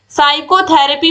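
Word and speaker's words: psychotherapy: साइकोथेरेपी में आप देखिए पी आपको साफ साफ दिख रहा है, साइलेंट है, ऑप्शन सी सही हो जाएगा।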